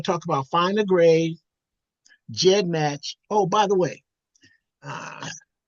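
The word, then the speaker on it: GEDmatch: We want to talk about find a grade, Jed match.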